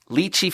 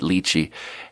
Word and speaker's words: lychee: lived in China and having my pronunciation based on Chinese, I pronounced it lychee. And then there was this super fancy other server there, and he pronounced it lychee, and I just sort of out-pretentious him for a sec.